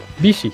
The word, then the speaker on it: Bishi: Bishi. Yeah, Bishi. Anytime you see an I in Japanese, it's pronounced with the E sound.